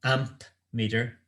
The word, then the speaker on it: ammeter: We measure the current in what's known as an ammeter. Basically, it's an amp meter, but it's spelled ammeter.